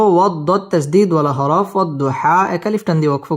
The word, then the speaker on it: والضحى: واو ضاد زبر وض ضاد পেশ দু وض হা খারা জবর হা والضحى ওয়াও ঠোঁট গোল করে উচ্চারণ করব ওয়াদ দত তাসদীদ ওয়ালা হরফ والضحى এক আলিফ টান দিয়ে